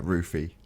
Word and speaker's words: Roofy: Yeah, that was pretty funny when is it Roofy? Is that how you pronounce his name? Yeah, Roofy.